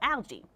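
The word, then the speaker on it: ALGEE: five-step action plan that's called algae so that's spelled a l g e e um the a stands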